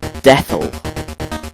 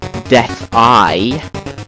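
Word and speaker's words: Death-I: And my entire life I've been calling this thing Deathel, because it just looks like that, but it's actually a capital I there, so it's Death-Eye, which makes sense, I guess.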